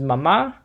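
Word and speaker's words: mamá: Mom is mama with an accent mark on the last A.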